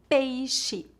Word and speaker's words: peixe: Por exemplo, xícara, shampoo, caixa, peixe, enxaguar, enxugar. Normalmente, o X é pronunciado como Z quando colocado entre a vogal e outra vogal em início de palavras.